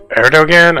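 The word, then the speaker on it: Erdoğan: But this is, Erdogan, I think it's how you pronounce his name.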